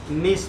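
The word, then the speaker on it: gneiss: बदल जाता है किसमें, नीश में। यह स्पेलिंग सही है, ऐसे पढ़ने के लिए लिखा हुआ है, ठीक है ना।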